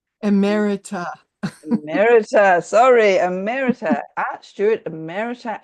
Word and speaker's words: emerita: Now, I don't know if I can pronounce this correctly, Ellen. So is it Imitra? Emerita.